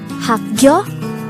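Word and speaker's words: 학교: The word hakgyo could be divided into two syllables, hakgyo. Hak is formed from the combination of the sounds of hyuk, a, and gyok, while gyo is formed from the combination of the sounds of kyuk and yo.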